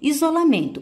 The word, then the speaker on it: isolamento: Observe, isolamento. Pronuncie essa palavra. Ao pronunciar, você vai verificar que o men é que tem a maior intensidade.